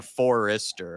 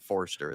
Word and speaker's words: Forster: saying a Forester. I'm saying Forster.